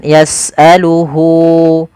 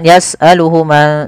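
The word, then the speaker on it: يسأله: kepada orang ketiga yaitu dia yasaluhu panjangnya berapa harakat untuk Mad Silah qasirah yaitu dua harakat maka Hunya di sini panjangkan jangan yasaluhuma tapi panjangkan dulu di sini ada tandai dengan wau kecil yas'aluhu Man fisamawati di sini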